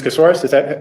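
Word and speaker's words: Casarez: Casoris, am I saying it right?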